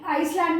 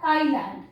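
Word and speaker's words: island: of Bombay में बेटा इसको आइसलैंड मत करना कैसे पढ़ा जाता है आई लाइन एस साइलेंट होता है आई लैंड ठीक है लिखने आइसलैंड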